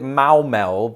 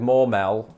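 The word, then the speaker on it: Maumelle: i'm gonna go with maumel because it rhymes with cowbell and i imagine arkansas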